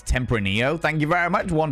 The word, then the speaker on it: Tempranillo: It's Tempranillo. Thank you very much, One True Cripple. I appreciate you correcting my pronunciation there.